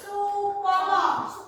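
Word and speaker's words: Soepomo: Kalau bahasa zaman dulu tuh kalau U pakainya O. Kalau sekarang kan apa? Ini kan bahasa zaman dulu. Jadinya kalau bacanya sekarang supomo. Kalau dulu o dibahasanya U.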